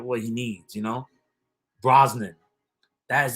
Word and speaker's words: Brosnan: your night saturday night not bronson i know it's not bronson but for some reason i came brosnan pierce brosnan i guess and that's that's how you say it it just feels like